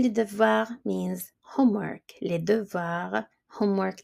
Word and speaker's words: devoirs: Les devoirs, homework, the S is silent for homework.